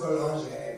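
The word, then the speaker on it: Boulanger: I don't know, it's French. It's pronounced Bolanger, but like...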